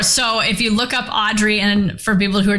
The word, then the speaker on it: Audriix: if you look up audrey and for people who are just listening it's spelled a-u-d-r-i-i-x the x is silent so look up audrey spelled that way um